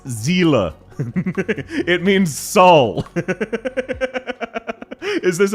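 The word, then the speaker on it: Seele: They go, "Oh, they Well, they pronounce it Celely. No, no, no. It's a German word. It's zila.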